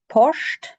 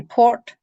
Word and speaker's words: port: Porscht. If you're in Lewis, you can say port, but everywhere else it's Porscht.